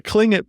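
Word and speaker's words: Tlingit: starts with yeah so even though you make like a k sound my the it all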